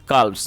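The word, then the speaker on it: calves: And healthy और स्वस्थ काल्व्स। और दोस्तों, काव्स का मतलब होता है बछड़े, जिसमें एल साइलेंट है।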